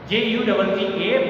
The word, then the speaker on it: Jutta: Okay, now student, there may be a confusion in your mind that it is J-U-T-T-A, but in this name J is silent, so I pronounced it Jutta Hahn.